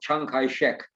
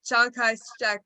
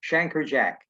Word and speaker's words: Chiang Kai-shek: It's funny that you talk about them because Americans have great difficulty pronouncing foreign names. So they twist them. Chiang Kai-shek, to many American soldiers, became Shanker Jack.